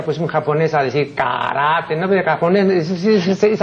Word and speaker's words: karate: vez he dicho que la pronunciación de lo que aquí equivocadamente pronuncian karate no es karate, sino karate. No solamente porque así consta en el diccionario de la academia, sino porque es inimaginable, pues, de acuerdo con la fonética japonesa, que vaya pues un